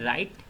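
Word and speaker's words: write: Again word है राइट, इसमें W silent है।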